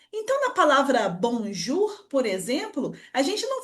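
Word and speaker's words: bonjour: Então, na palavra bonjur, por exemplo, a gente não fala bonjou, a gente fala direto bonjur.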